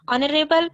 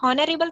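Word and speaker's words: honorable: ऑनरेबल बोलेंगे तो वहां पर एच साइलेंट हो जाता है। हॉनरेबल थोड़ी ना बोलते हैं, ऑनरेबल बोलते हैं, है ना।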